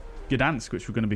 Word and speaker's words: Gdańsk: Like, for example, I've just purchased the Gdańsk, I'm saying it wrong again, Gdańsk, which we're going to be flying into on the next leg.